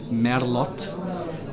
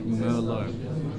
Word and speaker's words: Merlot: Now be careful, because in Czech the pronunciation is Merlot, but in international language we would say Merlot.